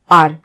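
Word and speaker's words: hour: Second है the train is late by half आवर। तो आर भी हमने पढ़ा था कि आवर में है तो एच, ये एच कॉन्सोनेंट है, लेकिन जब हम प्रोनाउंस करते हैं तो इसमें आ का साउंड आता है, यानी किसी वोवेल का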